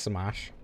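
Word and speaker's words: Smough: orange stain and smudge through is actually pronounced smash.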